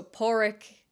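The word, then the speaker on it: Pádraig: like obviously the English version of poric so poric is the Irish for the name Patrick and poric is spelled p a father d r a i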